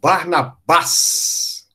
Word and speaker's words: Barnabas: e é emprego é barnabas barnabas oxítona é engraçado que em inglês ficou igualzinho grego com a diferença que mudou a sílaba tônica né Inglês passou para top paroxítona lembra barnabas em português passou como Barnabé é a era muito